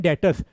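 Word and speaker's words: debtors: उसको हम बोलते हैं डेटर्स डी ई बी टी ओ आर एस बी यहां पर साइलेंट होता है उसको बोलते हैं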